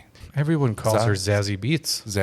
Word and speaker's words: Zazie Beetz: I'll be like, "Zazzy Beats." And she'll be like, "What the Did you say sassy beats? You mean Zaz Bates?